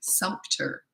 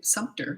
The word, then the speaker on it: Sumter: Sumter. Feels like there should be a P in there too. Sumter. Is it pronounced that way, or is the one of those silent?